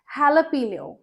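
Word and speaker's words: jalapeño: It's not jalapeno. Jalapeno. Jalapeno. ये होते हैं हॉट ग्रीन चिली पेपर्स, जो कि मुझे बिल्कुल पसंद नहीं है, वेरी चिली, बट इन्हें हम बोलते हैं jalapeno.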